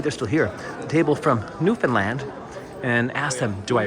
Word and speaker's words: Newfoundland: Your favorite thing about Newfoundland. And you helped me pronounce it correctly. I would say Newfoundland. It's Newfoundland. Like Disneyland.